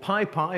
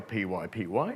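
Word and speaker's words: PyPy: makes it immediately available there's an implementation called pi pi or p ypy depending on how you pronounce it and that was originally an eu-funded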